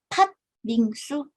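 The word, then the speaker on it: 팥빙수: Jadinya tat bingsu.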